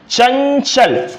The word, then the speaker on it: चंचल: आप देखेंगे चंचल, चं चं य चं चं, मतलब यहां पे य का उच्चारण आता है, अर्थात ये अगर देखा जाए तो चंचल।